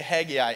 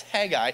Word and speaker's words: Haggai: I say Haggai, it's Haggai and Zechariah, and so this is where we